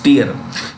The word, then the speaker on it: tier: ac two tier ac it's not tire it's tier here means level so you're in